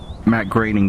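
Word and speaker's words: Matt Groening: created the cartoon series The Simpsons Charles Schultz Matt groing Walt Disney Tracy Alman I watched enough s s to know that it's B Matt graining final answer well first off thank you for correcting me on the pronunciation and second off that just got you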